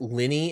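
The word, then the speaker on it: Lyney: or l lyette i I know like the correct way to pronounce it is Linny and Lynette but I kind of like liony and Linette I don't know why it just sounds better to me though probably flip block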